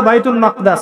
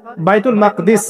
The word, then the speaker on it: বাইতুল মাকদিস: এই বোরাক চলে গেল বাইতুল মাকদাস এটা কোথায় বাইতুল মাকদিস সরি বাইতুল মাকদাস না বাইতুল মাকদিস বিভিন্ন মানুষ বিভিন্ন উচ্চারণ করে এটা হচ্ছে কোথায় নাম